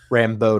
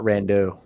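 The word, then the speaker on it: Rambeau: in that one trailer rambo not rando rambo yeah i just mispronounced it um he liked it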